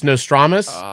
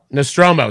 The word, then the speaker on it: Nostromo: Now I could get this wrong because I always say the name wrong, but I believe it's Nostromus. It's the Nostromo. Nostromo.